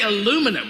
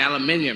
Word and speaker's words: aluminium: And now you say aluminum, we say aluminium.